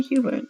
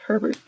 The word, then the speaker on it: Herbert: Why did I say Hubert? I know how to say his name. I said it wrong. Said Herbert, with his hand on his shoulder.